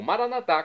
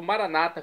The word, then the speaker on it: Maranata: E agora sim eu clamo Maranatá, como dizemos nós católicos, ou Maranata, como dizem nossos irmãos separados das igrejas, das comunidades evangélicas ou protestantes. Não importa a pronúncia, Maranata ou Maranatá, o significado é o mesmo.